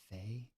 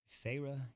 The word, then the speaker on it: Feyre: She drew out 2 syllables of name. Feyre.